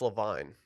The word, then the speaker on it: Levine: is this about Adam Levine this is It's pronounced Levine is this about the rising cost of lunch